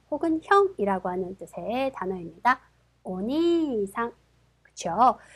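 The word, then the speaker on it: お兄さん: 보실까요 자 오빠 혹은 형이라고 하는 뜻의 단어입니다 오니상 그렇죠 자 니 이단이 이제 뒤에이가 왔기 때문에이이는 거의 들랑말랑 그래서 오니상 오빠라는 뜻이었습니다 다음요 이번에는 우단에 우가 왔네요 그렇죠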